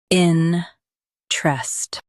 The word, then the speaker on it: interest: in trest Both US and UK have the same pronunciation of this word. in trest Now, read the syllables shown on the screen naturally. in trest in trest Emphasize in and keep trest light.